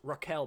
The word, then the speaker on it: Raquel: They're just like, oh, it's pronounced Raquel, by the way, just a K.